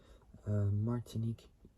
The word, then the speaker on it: Martinique: e yellow with Ivory Lea I didn't even pronounce this word martinque martinque there we go Martinique yellow with with Ivory leather interior in 1996